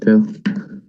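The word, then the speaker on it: Pou: Yeah, no, it's P-O-U, but it's pronounced Pooh. French. Should we just have some good thoughts for a second about Bo Bichette coming back?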